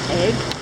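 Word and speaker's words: Eigg: One to the right is the island of Egg, and that's spelled E-I-G-G, and next to that, a much smaller one called Muck.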